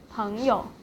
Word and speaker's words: 朋友: And 朋友 here is in neutral tone as well. 朋友, 朋友.